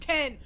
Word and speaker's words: iPhone X: in the chat right now iPhone X is pronounced 10 listen I know that it's supposed to be